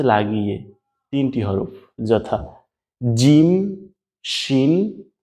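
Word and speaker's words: شين: আমাদের নোক্তা ছাড়া যেটা ছিল ওইটার নাম কিন্তু ছিল সিন, আর এইটার নাম কিন্তু শিন।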